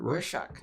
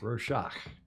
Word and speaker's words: Rorschach: Is that how you pronounce that? Rorschach. Rorschach.